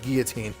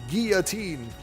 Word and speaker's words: Guillotine: And then I keep saying Guillotine. It's pronounced Guillotine.